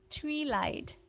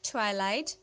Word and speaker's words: twilight: is how you pronounce tree light tree light this is not three light this is actually twilight twilight twilight kisses s